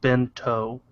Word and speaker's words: bento: would be pronounced bento.